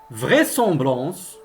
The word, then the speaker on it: vraisemblance: Et comme vous remarquez, toujours le S ne se prononce pas Z, même s'il est entre deux voyelles.